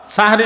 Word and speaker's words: সাহরি: বিষয় আপনারা লক্ষ্য করুন এই শব্দটা উচ্চারণ করতে অনেক সময় মানুষ ভুল করে ফেলে অনেক সময় মানুষ বলে সেহরি আসল শব্দ হলো সাহারি সিন হা বড় হা র সাহারি এই সাহারি শব্দ সাহারুন